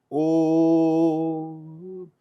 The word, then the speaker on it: Om: And how to pronounce the Om is Om.